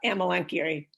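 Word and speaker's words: Amelanchier: but she said it's amelenkiri here you pronounce each of the vowels in this album so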